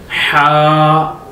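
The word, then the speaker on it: ح: Ha. You pronounce with your throat and read this one, ha, ha.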